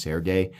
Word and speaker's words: Sergey: It's very Serge Penchenko-y, or actually, people correct me. I think his name is actually pronounced Sergey, and I'm really sorry about that.